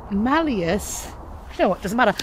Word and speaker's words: malleus: matadora the malleus maleficorum the mollius no the malleus you know what doesn't